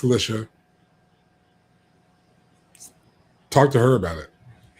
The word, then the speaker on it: Alicia: Yes, is how she pronounces it. Don't come at me. It's not Alicia. It's Alicia.